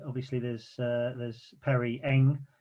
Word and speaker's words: Ng: there's uh there's perry eng which my pronunciation uh ng yeah you just literally say the letters ng who else should we